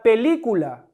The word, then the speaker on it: película: Tenemos la palabra película. ¿Cuál es la sílaba tónica? Li, la antepenúltima. ¿Qué me dice la regla? Que cuando la antepenúltima es la tónica, es una palabra esdrújula y por tanto debo tildar la sílaba.